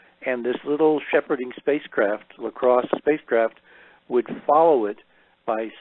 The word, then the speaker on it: LCROSS: out of NASA Ames called LaCrosse. And that was an acronym which stands for something, and I don't remember what it stands for at the moment, but it's spelled LCROSS.